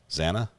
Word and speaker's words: Xana: Am I not saying Zena? Zanna. Okay, I'll try to I'll try to pronounce the name right. Zanna it is.